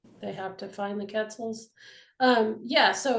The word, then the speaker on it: quetzal: you know, from the end of Birds Alive, there are Quetzals missing. So Quetzals, is that how you pronounce that?